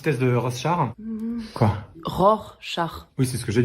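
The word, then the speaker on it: Rorschach: faire un petit test de rose char quoi ROR char oui c'est ce que j'ai dit non vous avez dit rose char je veux pas le savoir mais on dit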